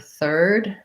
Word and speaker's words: third: to be more important you want to start with your er and then just bring the tongue forward to get the th sound so my tongue needs